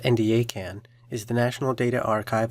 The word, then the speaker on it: NDACAN: NDACAN, pronounced NDACAN, is the National Data Archive on Child Abuse and Neglect.